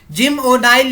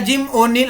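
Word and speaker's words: Jim O'Neill: था इन्होंने जो है जिम ओ नाइल या जिम ओनिल आप कैसे भी प्रोनाउंस कर सकते हैं इन्होंने जो है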